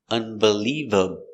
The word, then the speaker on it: unbelievable: unbeliever, unbeliever, b, unbeliever, unbelievable, b, unbelievable, unbelievable. All, dark L, all back here. Unbelievable, unbelievable, unbelievable, unbelievable. On the third syllable, the stress is on leave, unbelievable, unbelievable.